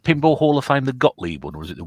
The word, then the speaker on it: Gottlieb: I think it's pronounced Gottlieb. Is it? But I don't know. Gottlieb? Yeah. It's German, isn't it? I'd say it'd be Yeah. Godlove, I think, if it's German.